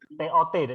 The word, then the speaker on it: taught: G sama H-nya nggak dibaca. Taught. TOT. Cara bacanya TOT.